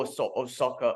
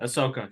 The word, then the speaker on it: Ahsoka: One of my friends from Singapore gave me a lowdown on the whole Osaka. I can't even say her name. Osaka? Am I saying Ahsoka? Fucking hell. Ahsoka, yeah.